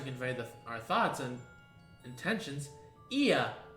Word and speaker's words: Ea: When the vibration of local folds was still required to convey our thoughts and intentions, Ia, I believe, was the pronunciation used when referring to other people.